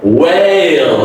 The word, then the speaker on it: whale: say way, and then the last dark L, whale, okay? Whale, it's not a whale, not straight, all right? It has variation. Whale, the A is a long A vowel sound here.